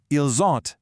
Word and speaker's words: ils ont: The singular il a sounds like il a, but the plural ils ont sounds like ils ont. That buzzing z sound is literally your only clue.